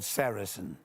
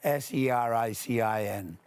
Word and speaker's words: sericin: One of them, a very important one, is called sericin. You spell that S-E-R-I-C-I-N.